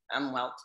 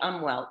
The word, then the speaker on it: Umwelt: So umwelt, let me just mention this because, and I'm doing the American pronunciation, umwelt.